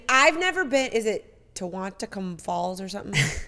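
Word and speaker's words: Tahquamenon: I mean, I've never been, is it Tehuantepec Falls or something? How do you say it? Tequanimon.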